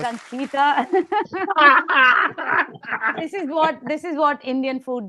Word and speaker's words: Ankita: You still got my name wrong. My name is Ankita.